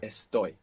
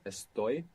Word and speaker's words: estoy: we have is that this verb is the only verb in the entire Spanish language that doesn't have the accent on the penultimate syllable in the present tense. So, it's not estoy, it's estoy. The accent's on the ending.